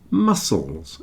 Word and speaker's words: muscles: a man with muscles muscles you see the C is not pronounced here so this word muscles